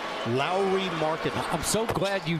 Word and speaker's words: Lauri: people that are wondering how do you pronounce the first name because you hear it a bunch of different ways it's like Kyle Lowry Lowry Market I'm so glad